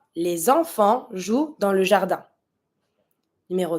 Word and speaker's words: les enfants: Les enfants, see I'm making the link because I have my vowel from enfant. I'm going to pronounce my S from les.